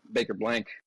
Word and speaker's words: Baker-Blanc: Baker-Blanc.